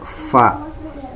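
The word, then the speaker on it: ف: Contohnya adalah huruf fa. Fa ini dibacanya bukan pa ya. Ini tidak sama dengan pa. Nah, namun dia dibaca menggunakan f, fa. Jadi bibir atas dan bibir bawah itu tidak kena ya, fa.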